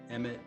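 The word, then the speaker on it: אמת: How is it pronounced in Hebrew? Emet. Emet. Oh, it's Torah the Emes.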